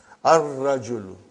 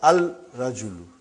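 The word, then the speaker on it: الرجل: Ar-rajulu, the man. Not al-rajulu. It will be wrong to say al-rajulu. It will be ar-rajulu. We won't pronounce Lam. Why? Because it is a sun letter.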